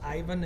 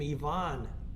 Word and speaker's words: Ivan: battling the kov brothers Ivan and Carol in those days Greg they pronounced his name yvon kov somewhere in the 60s it got more Americanized than it was Ivan but it was Carol